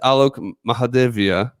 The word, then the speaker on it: Loki Mahadevia: Loki's real name is tell me if I get this right, is Loki Mahadevia. Yes, that's right. How did I do? You did pretty well. Pretty well. Good pronunciation.